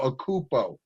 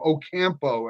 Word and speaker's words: Ocampo: of his friends, Armando Acupo. And because I brought up Alvin's name because he's a loyal listener, Ocampo, actually, the correct pronunciation.